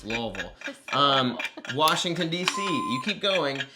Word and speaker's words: Louisville: Louisville. Shout out, Kentucky pronunciation of things. It's not Louisville, it's Louisville.